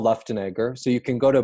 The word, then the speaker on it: Luftenegger: so everybody always asks how do you say left and so but it's the left and Egger so you can go